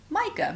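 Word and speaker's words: Maaike: one from Micah my this is how how Americans would write my name but my name is spelled differently m a a i ke e is the proper Dutch spelling of it you could say sounds the same but it's written differently for sure then I picked up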